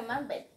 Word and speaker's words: mukbang: Oh, we're also doing a mukbang. What is it? How is it pronounced?